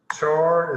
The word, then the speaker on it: char: is literally one character so Char is how you say it Char um first letter